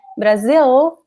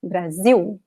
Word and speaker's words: Brasil: It ends with the letter L, which we do not pronounce, right? We do not say Brazil, we say Brasil.